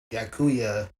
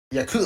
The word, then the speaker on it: yakuza: De Niro, 'cause he plays a lot of Yakuya. Wait, oh shit! Did I say it right or did I say it wrong? I'm not. Yakuza.